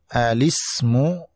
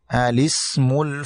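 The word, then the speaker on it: الاسم: Kemudian contoh yang terakhir adalah bisa dibaca dengan dua cara, dengan alismu atau dengan lismu. Tapi yang paling populer adalah membacanya dengan alismul fusuq.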